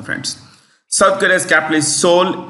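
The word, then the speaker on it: Seoul: South Korea's capital is soul s e o u l s e o u l Soul the E is silent Soul United States we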